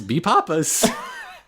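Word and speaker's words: B-Papas: i've never heard it this is pronounced b hyphen papas b papas egg papas you heard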